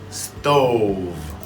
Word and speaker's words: stove: Stove. Don't forget the V.